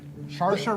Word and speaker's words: Saoirse: Because it's Celtic spelling, so it doesn't match any phonetic rules.